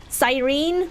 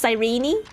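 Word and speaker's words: Cyrene: Sounds like the knee is almost silent.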